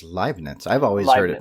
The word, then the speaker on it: Leibniz: Isaac Newton and Gottfried Leibniz, they found calculus at about the same time.